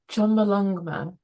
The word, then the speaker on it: Chomolungma: You mentioned about how I'm gonna hash up the pronunciation now, but I'm gonna go with this. So Chomolungma.